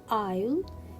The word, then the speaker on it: isle: letter s is not pronounced it is a silent letter in this word so island isle and de pre debris i have here letter